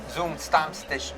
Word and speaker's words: Zum Stammtisch: So, Warner, what does the name ZumStammtisch mean?